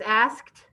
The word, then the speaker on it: asked: it ask and then it was asked so it had a t sound at the end but does the t is it a t asked what letters make that t sound e d very good in fact